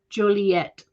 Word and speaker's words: Joliet: Eva says, I've only ever pronounced with a hard T, Joliet.